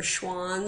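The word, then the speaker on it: Schwann: remember who said what remember Schwan sounds like Swan and that's an animal so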